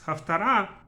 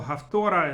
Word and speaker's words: Haftara: Haftara, or Haftora as Ashkenazim usually pronounce it, is spelled with a tet.